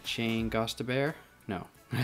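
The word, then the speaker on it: Gostisbehere: know all right shane goss to bear no i said i always have trouble the nice thing is it has um how to pronounce it on the back shane goth tissbear let's call him ghost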